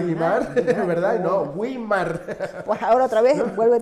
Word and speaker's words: Weimar: Se llegó incluso a que se pronunciara bien, porque Wimar claro, tiene diéresis, Guimar. Que todo el mundo decía Guimar, ¿verdad? Guimar. No, Wimar.